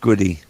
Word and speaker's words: Gaudette: It's pronounced Goody.